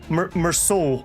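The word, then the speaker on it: Meursault: Even Even uh almost call him Merllo. Meroul again.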